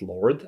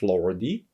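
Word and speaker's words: Lorde: For example, these days, I'm listening to Lord, I hope it's pronounced Lord, I don't think it's Lordy, album, and it's a really raw recording with great vocal.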